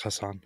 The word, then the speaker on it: Hasan: Because you can pronounce that either way. Some people Mehdi say Hasan, some people yeah. Hassan. It's Hassan. Hassan.